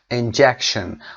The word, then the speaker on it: injection: injection استرس روی ج، ببینید حروف فونتیکش رو ج و ک و ش. injection. حالا اگر بخواید خیلی دقیق تلفظ بکنید میبینید که بین ش و ن صدای وجود نداره و این رو باید به این شکل تلفظ بکنید. injection.